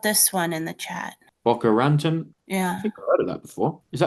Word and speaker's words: Boca Raton: Okay, not Bocas Raton, Boca Raton.